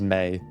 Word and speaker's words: Mae: Thank you, by the way, everyone who let me know that the pronunciation is May, and also her friend B.